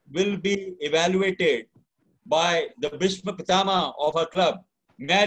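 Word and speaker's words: Bhishma Pitamah: If I have been mispronouncing, it's not Vishwa Pitama, it's Bhishma Pitama.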